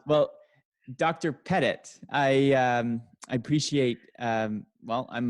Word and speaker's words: Pettit: Pettit. Pettit. Yes. It's my, I guess being in Ottawa, sometimes you always think people have a French name when they don't. Yes. Right? Well, Dr. Pettit, I appreciate, well, I'm not a robot.